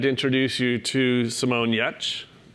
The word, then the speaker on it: Giertz: I am very excited to introduce you to Simone Giertz. Her name's spelled differently, but that's how you pronounce it.